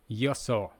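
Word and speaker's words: 予想: Another word, prediction, yoso. We can imagine prediction that someone is gonna have your saw.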